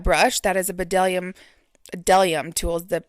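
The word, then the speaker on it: Bdellium: That is a bedellium delium tools. The the B is silent.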